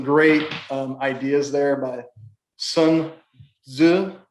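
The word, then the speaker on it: Sun Tzu: um ideas there by sun zu is how you pronounce that but it's a great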